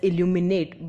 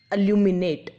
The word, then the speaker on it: illuminate: So our last word is illuminate, which was pronounced as illuminate, but its real pronunciation is अल्यूमिनेट, अल्यूमिनेट नॉट इल्यूमिनेट, अल्यूमिनेट।